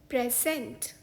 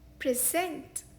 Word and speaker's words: present: इस शब्द का एक उच्चारण है प्रेजेंट, जिसका मतलब होता है उपहार। इस शब्द का दूसरा प्रोनाउंसिएशन है प्रेजेंट, यानी कि पेश करना या कोई पेशकश। For example, he decided to